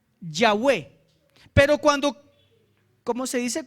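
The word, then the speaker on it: Yahweh: V H impronunciables listo los masoretas le pusieron unas vocales para que se pronuncie la palabra yahwe pero cuando Cómo se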